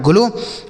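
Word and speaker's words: glow: आगे जी एल ओ डब्ल्यू तो जी एल से हो गया आधा ग और ल। यहां पे ओ डब्ल्यू का उच्चारण ओ की मात्रा हो गया। तो ये लिखा है ग्लो मतलब क्या होता है?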